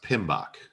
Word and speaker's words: PMBOK: on it came out in 2017 and it's pronounced pmbok you know acronyms have to have a a